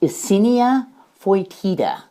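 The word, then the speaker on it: Eisenia fetida: your vermicomposting are red wiggler worms that is pronounced icinia foitida that's the latin name for these worms do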